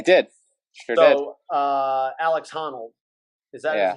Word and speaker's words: Honnold: So Alex Honnold, is that Yeah. how you pronounce his name? Yeah, that's Honnold.